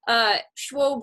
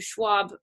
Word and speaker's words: Schwob: For the new students, Schwob rhymes with globe as opposed to Schwab, the investor, just so you know.